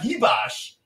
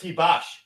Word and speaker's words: Ribas: we are here for I'm sorry Guru butchered it but it's Amanda heos and it's rose rose I didn't even I didn't even say the R I said heos no yeah but it's heos it's not an S